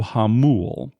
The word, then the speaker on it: Jamul: So this new casino, it's called Hollywood Casino Hamul. You should spell Hamul for those people around the country who aren't familiar with Spanish. All right, so yeah, Hamul is spelled Jamul.